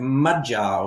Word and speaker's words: magyar: We all know that the first syllable of every word in Hungarian is accentuated, yeah? So we have magyar, we have Khoury, but never the opposite.